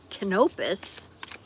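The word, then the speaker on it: Canopus: It's two times as bright as the next brightest star in our sky, which is Kenopus, like canopy Kenopus.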